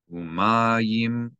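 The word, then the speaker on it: מים: The yud of mayim is a Y sound. You know it's pronounced as a consonant Y because there is a vowel associated with the yud. The only time yud is not pronounced like a Y in the middle of a word is if there is no vowel associated with it.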